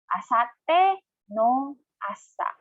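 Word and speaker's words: 明後日の朝: And then one after the next or the day after tomorrow morning, or should we say the morning after tomorrow morning, asatte no asa.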